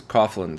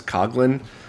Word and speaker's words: Coughlin: The last name is Coughlin, spelled phonetically, and then they realized the Irish pronunciation is Coughlin.